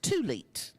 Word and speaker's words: thulite: slates where total now is $2,106 T it's pronounced tulit thank you pink tulit gemstone necklace thank you Mike next we have